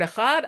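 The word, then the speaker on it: אחד: You extend the word echad, and the dalet is it's pronounced differently. Okay, so he was extending the word echad.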